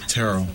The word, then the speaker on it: Terrell: Turl, who? Who is that? Please recap the conversation. Sweetie baby, that was Turl Owens. Terrell, how do you say his name? Terrell.